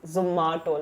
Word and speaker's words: Zomato: So एक voice note गया था, मैंने record किया था सबको, guys please pronounce it's Zomato, like ma Zomato.